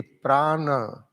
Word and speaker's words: prana: What is the pran how we pronounce pran p r a a n a Prana and this plan is